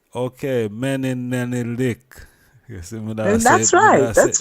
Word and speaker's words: Menelenelek: We're speaking with a special guest from the EWF, Empress Menelenelek. Menin. Yes, the Menelenelek. Menelenelek. You see that going? That's Go right. and do all of that. You were saying it good. Menelenelek. Okay, Menelenelek.